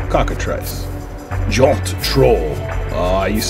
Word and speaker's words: cockatrice: do you pronounce that trace trice cockatrice very like a cockatoo cockatrice job to troll I